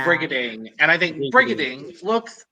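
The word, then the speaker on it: Brigiding: yeah that's all right brigading i learned how to say her name properly reading reading not pretty hitting this i said bridgetting and i felt really bad it's also because we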